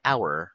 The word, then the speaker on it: hour: It's right to say an hour. Why? Why? Because the letter H in the word hour is silent.